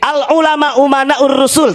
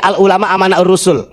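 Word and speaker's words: العلماء أمناء الرسل: Kemarin menyampaikan begini, Bahar bin Smith, al ulama umanaur rusul, tapi bacanya al ulama amanaur rusul. Saya katakan salah. Kenapa? Karena di sini umana, jamak taksir ya.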